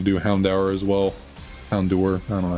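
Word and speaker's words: Houndoom: do dusclops and then I think that and Hound hour wasn't able to do Hound hour as well Hound door I don't know how you you're technically supposed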